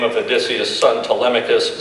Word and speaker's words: Telemachus: name of Odysseus' son Telemachus, simply repeat the name with the emphasis on the 3rd syllable, Telemachus.